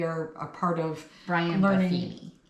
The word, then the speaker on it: Buffini: I'm part of um Befini and Company, our uh Remax Elite. We are a part of Brian Buffini. Who did I say? Befini is Brian. Yeah, it's Brian Buffini.